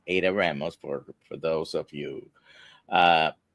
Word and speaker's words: Adda Ramos: Her name is Ada Ramos, like I would pronounce it in Spanish because that's Ada Ramos for those of you.